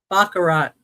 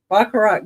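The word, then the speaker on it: Baccarat: It's um B A C C A R A T Bakarat Bakarat Crystal.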